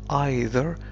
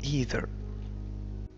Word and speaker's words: either: هذه الكلمة تنطق either أو either.